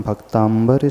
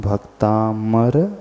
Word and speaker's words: भक्तामर: ही सुधार लें कि इस स्तोत्र का नाम भक्तांबर स्तोत्र नहीं है स्तोत्र का नाम भक्तामर स्तोत्र है इन दो शब्दों को